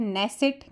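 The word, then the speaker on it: Knesset: Israel की क्या है नेसट के साइलेंट हो जाता है स्पेन की क्या है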